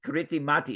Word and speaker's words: Kiritimati: It's like spelled with a K, Kiritimati, it looks like.